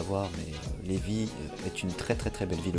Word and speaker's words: Lévis: même, nous sommes à Lévis. Non Lévis, mais Lévis, ça se prononce Lévis. Mais bon, tout le monde fait l'erreur, notamment les Français qui arrivent ici, ils disent Lévis.